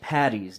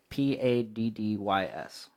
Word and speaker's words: Paddy's: special public service announcement Saint Patty's Day is spelled PA d dys Paddy's Paddy's Day not patty patty but why are you